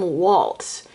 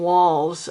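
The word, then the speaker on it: Walz: Um a lot of people including mainstream media keep calling him Tim Waltz. You know Waltz like the dance. It's it's not. It's Tim Walls I'm pretty sure.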